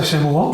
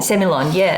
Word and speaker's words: Semillon: Now, before we go any further, and I embarrass myself, in the Hunter Valley, you pronounce Semillon different to other parts of Australia. I say Semillon. Semillon, It's a bit like I say Shiraz.